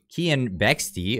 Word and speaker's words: Kian Bexti: beliefs and feel-good ideology kian bextie of whom i've been mispronouncing his name this entire time sorry kian uh it's pronounced kian bexti broke this story to